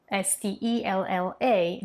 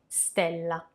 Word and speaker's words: stella: That E is pronounced like an open E, stella. But in proper Italian, so we're talking about dizione here, the proper way of pronouncing words, it should be stella, stella, with a closed E.